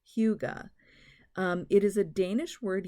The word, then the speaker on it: Hygge: Now, Hygge, or actually it's pronounced Hygge, H-U-E-G-U-H, and it's not Hygge like hookah, it's Hygge.